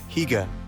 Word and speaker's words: hygge: Hygge, pronounced Hygge, is all about that cozy, comfortable feeling.